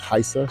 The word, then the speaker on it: Rayssa: to get and it is the Nike SB heisa Le so this shoe it looks like the name is Raa but it's actually pronounced heisa she's from Brazil 16 years old um Started